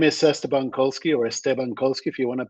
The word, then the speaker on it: Esteban Kolsky: that soon uh my name is cestabankolski or estebankowski if you want to pronounce it perfectly well uh but I want